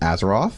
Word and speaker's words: Azaroff: I'm here with my very good friend Rachel azero did I pronounce that right you did thank you amazing